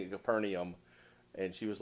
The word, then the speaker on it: Capernaum: Jacqueline is freaking out because it doesn't match the English language because it's not E-U-M, it's A-U-M. Or I-U-M. Or I-U-M. It's not English, that's why.